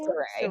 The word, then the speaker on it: Saray: I'm Saray because my name is Lindsey Ray. Yeah, and it's the R-A-E. R-A-E, so I say Saray.